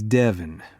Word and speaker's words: Devon: This is Devon. Rhymes with heaven, but he's closer to the devil.